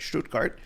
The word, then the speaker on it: Stuttgart: all drove six hours from Schrute carts I'm pronouncing that right this time right Stuttgart to meet with me at the conference and